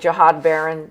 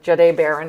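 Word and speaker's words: Jahdae Barron: I think we're going to go with Jiad Baron. Jade Baron, excuse me, I'll say his name right.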